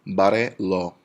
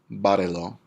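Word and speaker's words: bárrelo: Barrelo. Barrelo. 3 syllables back. On the A is our accent.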